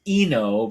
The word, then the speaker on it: I-No: Uh, character is pronounced I-No, but it's spelled like I-No.